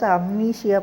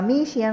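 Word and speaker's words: amnesia: இதுக்கு வந்து தமிழ் மீனிங் வந்து மறந்து இது வந்து ஒரு டிஸ்ஆர்டர் இதுஹி வாஸ் அம்னிசியா பர்சன்ட் அப்படின்னு நம்ம சொல்லுவோம். அதுதான் வந்து நம்ம அமீசியான்னு சொல்லுவோம். அமீசியா இல்ல அம்னிசியாதான் கரெக்டான வர்ட்.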